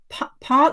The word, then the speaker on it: Paarl: So Therese, is that Paarl? You pronounce it, is it Paarl in South Africa? Oh, yes. Paarl, wonderful.